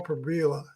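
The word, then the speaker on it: Pribula: Their new quarterback was the backup Berbola from uh Ber Berbila, that's how you pronounce it.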